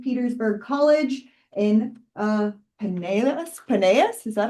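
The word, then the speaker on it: Pinellas: Paneas, is that how you pronounce it? Panelis.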